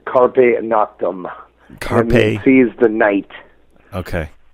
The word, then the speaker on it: Carpe Noctem: I don't even know if my Latin is proper, but it's Carpe Noctem.